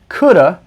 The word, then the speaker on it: could've: is often contracted to could've which is often pronounced coulda can also be used